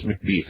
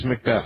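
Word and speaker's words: McBeth: And, your your last name I do pronounce McBe. Is that correct? No. No. See, every I don't know. Every time you have a hard time with that name. I really do. I want to pronounce it that way. It's McBth, I guess.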